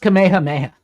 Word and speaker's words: Kamehameha: Kamehameha. It's pronounced Kamehameha.